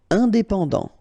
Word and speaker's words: indépendant: Indépendant. Final T not pronounced.